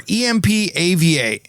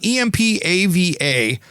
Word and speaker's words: EMPAVA: Plunge Indoor Tub by EMPVA, or EMPAVA, Empava, I believe that's how it's said.